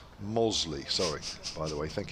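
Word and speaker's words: Mossley: says loving the coverage from mostly in lancashire pronounced mosley sorry by the way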